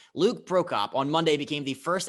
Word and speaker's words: Prokop: just in nashville predators prospect lo uh luke pro cop i butchered the first name which ironically is the one that i thought i had the best chance of saying luke prokop on monday became the first active player under